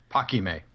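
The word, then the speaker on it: Paquimé: archaeological zone at, I'm going to let you pronounce it. Paquime.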